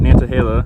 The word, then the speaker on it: Nantahala: We were at Nantahala, which I just pronounced right for the first time.